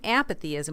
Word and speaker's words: apathyism: And in case you're wondering, meh is spelled M-E-H. Mm. And so he's talking about apathyism.